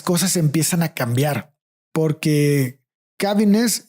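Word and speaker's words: Caviness: Entonces, hasta aquí, hasta donde veo, es cuando las cosas empiezan a cambiar, porque Cavines y su equipo, sí se pronuncia Cavines.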